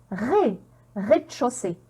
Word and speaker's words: rez-de-chaussée: la prononcer mais mais et là qu'est-ce que j'ai encore ez comment on va la prononcer parfait rez-de-chaussée donc là c'est un